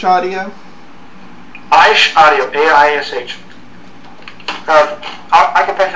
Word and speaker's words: Aish: this Hebrew words and you're gonna have to spell that. Like the Big Bang and the appropriate explosion variable. It's ASH Audio? Aish Audio, A-I-S-H.